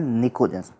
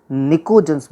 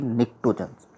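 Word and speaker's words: pnictogens: में, उनको बोलते हैं निकोजन्स। क्लियर है? यहाँ पर ये ध्यान रहे, यहाँ पर पी और टी साइलेंट है। निकोजन्स बोलते हैं, न कि निक्टोजन्स। That is निकोजन्स, नॉट ए निक्टोजन।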